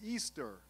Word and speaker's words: Ishtar: bale she was called ishtar pronounced easter es esther in english